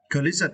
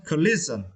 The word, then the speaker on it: collision: was a collision yeah Collision it is now and you see about this phonic right you need to emphasize or stress the second syllable list list okay Collision Collision okay good Collision is made